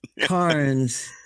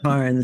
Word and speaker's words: Cairns: Cairns. Even though there's air literally in the word, it always is Cairns.